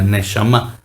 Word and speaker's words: neshama: Así se pronuncia, neshama.